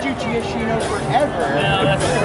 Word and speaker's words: Giacchino: Okay, but you know, the truth is, it's Giacchino.